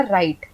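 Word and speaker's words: right: तो यहां पे हमने आर आई जी एच टी में जी एच साइलेंट हो गया हमने बोला राइट हमने राइट नहीं बोला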